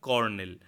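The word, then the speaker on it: colonel: আমরা যদি উচ্চারণ করতে যাই তাহলে কিন্তু চ লো নেল হচ্ছে, কিন্তু এর আসল যে প্রোনাউন্সিয়েশন বা উচ্চারণ সেটা হচ্ছে কর্নেল।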